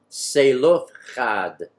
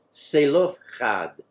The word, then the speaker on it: Zelophehad: their Mishka Thoth but everybody looks at this word is Zelophehad but it's truly pronounced say look add three syllables not for sale of cod and here my friends